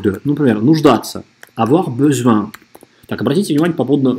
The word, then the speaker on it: besoin: Не be, беса маймуча, а besoin. J'ai besoin. А здесь n на конце, носовое. J'ai besoin.